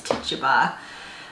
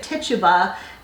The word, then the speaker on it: Tituba: Tituba, or Tituba, I'm not quite sure how it's pronounced. I think it's Tituba. She was an enslaved South